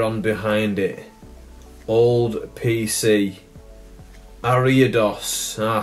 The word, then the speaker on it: Ariados: energy a layer on behind it old pc ariados i said it right this time pancea that's